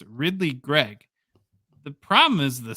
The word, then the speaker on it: Ridly Greig: The pronunciation is super easy. It's Ridly Greig.